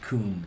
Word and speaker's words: cum: It's pronounced coom rag.